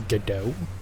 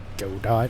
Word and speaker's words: Godot: But I was going to use Godot, or Godot is what it looks like, but it's, you know, from what I've gathered, it's supposed to be spelled like, or pronounced like Gal Gadot.